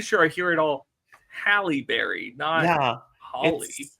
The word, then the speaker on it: Halle Berry: 2003 gotha it's a holly berry film and he has a key role as Pete Graham sorry it's a who film Holly Berry that is how you say her name is it really it